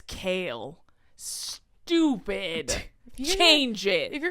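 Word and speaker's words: Chaol: what do you mean his name is kale stupid change it if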